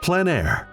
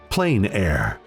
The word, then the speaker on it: plein air: of outdoor painting called plein air the french coined the term which means open air or outdoors the french pronounce it plein air others say plain air no matter how you